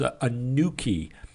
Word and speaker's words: NQE: position, which Neil McDonald calls a nuki. That's how he pronounces NQE.